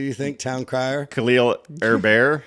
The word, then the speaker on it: Herbert: think Town CER khil her bear how do you say that it's Herbert it's like Sherbert okay with an H all right from the